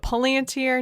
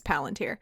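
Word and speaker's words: palantír: pronunciation i'm going with but paulientier no it's palantir i of course will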